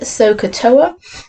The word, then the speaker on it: SOHCAHTOA: way to remember which equation to use you pronounce it sohcahtoa and what it just means is here's sine